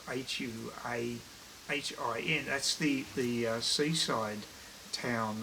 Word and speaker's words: Hua Hin: asses there and um i think i'm pretty sure that's how you pronounce i was just practicing that wahine which is hua hin that's the the seaside